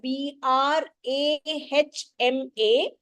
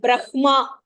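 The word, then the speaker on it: ब्रह्मा: it grin and Braha even though we write it as b r a h m a we don't pronounce it Brahma we pronounce it Brahma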